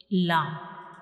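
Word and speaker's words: ل: So when we pronounce lam, the tip of the tongue will touch the gums behind the upper front teeth. When we pronounce lam, we will touch the tip of the tongue to the gums behind the upper front teeth, like lam, lam.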